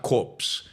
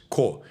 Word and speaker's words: Corps: And um core, not corpse, core um core. And I don't know why in English you put a P there when you're not supposed to pronounce the P.